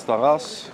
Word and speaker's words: Taras: How do you pronounce that? Taravshenchenko? Yeah, the first name is Taras.